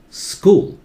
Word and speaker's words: school: teeth s sound cool school school and speed up school school do not start with is no vowel before that not is just school school school very simple right the